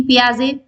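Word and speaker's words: Piaget: दिए गए हैं जीन पियाजे फॉयड कार्लबर्ग या फिर उपरोक्त सभी ठीक है सो हमारा राइट ऑप्शन हो जाएगा जीन पिया जे क्या हो जाएगा इसमें टी साइलेंट ठीक है स्टूडेंट सो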